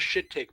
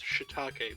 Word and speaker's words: shiitake: The angry video game nerd once referred to them as shit take mushrooms and was like, yeah, I know that it's shiitake, but it's spelled shit take.